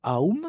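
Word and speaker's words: aum: et là vous voyez le a u m le aou ça se prononce comme ça et c'est très connu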